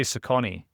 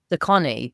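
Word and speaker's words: Saucony: I'd say Sakonei. Scony. You're probably right. Like sock on.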